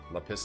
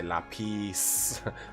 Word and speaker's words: Lapis: Lapis and Steven Universe. Steven Universe control the pronunciation. Got to say lapis. La pis.